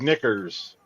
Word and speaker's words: knickers: Starts with a silent K 200. It's what the Brits call underwear, and yes, you can say it on TV. Jeff. Big Jeff. What is knickers?